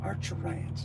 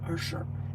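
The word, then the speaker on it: Arcturians: Archurians, not Archer. It's Archurians.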